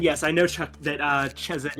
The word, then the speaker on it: Chesed: And yes, I know, Chuck, that, Chesed is pronounced Chesed, but I kinda don't want to make that sound with my mouth right now because it causes me to cough.